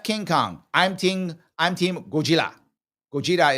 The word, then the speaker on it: Gojira: Gojira is how they say it in Japanese, by the way. Gojira.